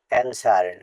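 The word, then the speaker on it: answer: ডাব্লিউ শব্দের শেষে ডব্লিউ ও অথবা ডব্লি থাকলে ডব্লিউ উচ্চারণ হয় না এনসার এখানে ডবলিউ সাইলেন্ট থাকবে এখানেও ডবলিউ সাইলেন্ট থাকবেশ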